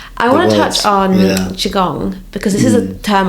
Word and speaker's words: Qigong: No one ever knows how to spell it. It's quite tricky. It's a Q. Qigong. Qigong.